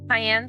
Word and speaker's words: Cayenne: Cayenne pronounced like the pepper.